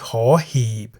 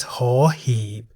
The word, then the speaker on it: ห หีบ: That is the consonant ห หีบ, which we can summarize as a consonant that sounds like a H at the beginning of a syllable.